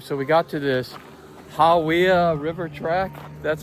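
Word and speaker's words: Hāwea: So, we got to this Hawya River track. That's how you pronounce it.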